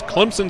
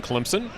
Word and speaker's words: Clemson: that's right this is Clemson South Carolina for those of you that are not from here there's an invisible p in Clemson often mispronounced phonetically as Clemson only locals know